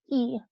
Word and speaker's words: y: So if you ever see the letter Y by itself, it is the word for and it is pronounced E.